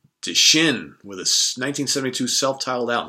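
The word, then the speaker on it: Dschinn: Second, or a German hard rock band called Die Shin with a 1972 self-titled album. So that's spelled D-S-C-H-I-N-N.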